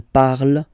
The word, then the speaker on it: parle: So even if you've got this ENT, well, don't hate me, but you won't pronounce these letters. Okay, you have to write them for the plural form, but you don't pronounce them. So you get il parle, elle parle.